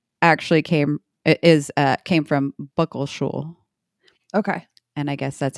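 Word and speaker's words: bəqəlšuł: So their name, Muckleshoot, actually comes from the native term, this is it, Buckleshul. Buckleshul. This has, it's pronounced Buckleshul, but it's spelt B upside down E, Q,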